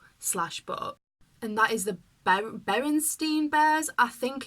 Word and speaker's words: Berenstain: So it's like Berenstain, not Berenstein.